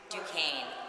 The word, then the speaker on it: Duquesne: how do you say Lena's last name I Duquesne Duquesne decay times with ringing super ancient es